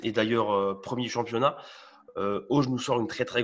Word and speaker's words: Hauge: Il s'agit de Monsieur Auge, on va le prononcer comme ça, l'attaquant norvégien.